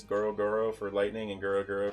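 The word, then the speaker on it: ゴロゴロ: That's how you say it in Japanese. Goro Goro for lightning and Gura Gura for earthquakes.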